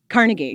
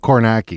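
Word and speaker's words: Kornacki: to say his name Carnegie no not Carnegie Steve coraki coraki on MSNBC the guy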